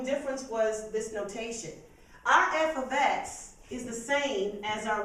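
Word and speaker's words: f(x): put in your blank we use a special notation called f ofx that's how you say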